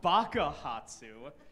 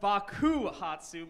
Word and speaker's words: bakuhatsu: yeah Port sweet Adam it's not Baka hotsu that means idiot in Japanese it's actually called bakuhatsu meaning explosion or to explode depending